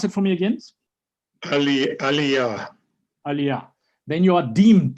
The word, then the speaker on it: Aliyah: Say, pronounce it for me again. Aliyah.